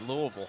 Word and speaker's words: Louisville: Party Louisville Lou see I said it right Louisville you ever had never mind you know Louisville